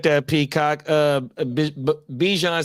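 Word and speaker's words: Bijan: Uh Bjan said his the way to say his name is Bjon.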